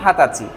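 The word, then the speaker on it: 二十歳: Exceptional একটা বিষয় হলো 20 বছর বলার জন্য হাতাচি। এই বিষয়টা এক্সেপশনাল। আশা করি বুঝতে পেরেছেন।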